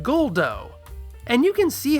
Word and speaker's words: Guldo: And remember that what we romanize as a Japanese r can be adapted into an English r or l, and they went with l. So they call him Guldo.